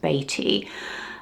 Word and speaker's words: Beatty: We've always called him Warren Beatty over here, but I think it is correctly pronounced Beatty.